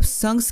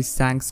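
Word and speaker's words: Shanks: बाय द वे मुझे बहुत लोग कह रहे थे कि सैंक्स को संक्स कहा करो, और जिसके बाद मैंने उसका प्रोनाउंसिएशन एक्चुअली चेक करा था और वो सैंक्स ही है।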